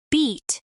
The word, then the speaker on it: beat: In beat the tongue is higher and the vowel is longer.